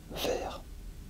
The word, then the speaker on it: vert: en fron but is also The Green is Ver you pronounce it exactly you wr it inad of